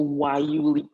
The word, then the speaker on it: guayule: The second biomass comes from the Wayuli plant. Yes, it's spelled with a G, but it's pronounced Wayuli.